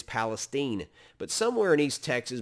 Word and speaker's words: Palestine: who's local and who's not is how they pronounce local words uh in texas it's not palestine it's palestine but somewhere in east texas maybe around palestine